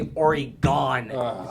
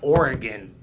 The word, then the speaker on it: Oregon: really annoyed me that people say origon they have oregon it's it's like an organ yeah like o r e or e gone like you're going to be gone if you keep pronouncing it yeah and then also